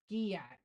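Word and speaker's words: gyatt: Gayat, pronounced like yacht with a G in front. Giyat.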